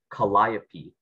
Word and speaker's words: Calliope: sure the word is Calliope it can either be pronounced Calliope or calliope it is a noun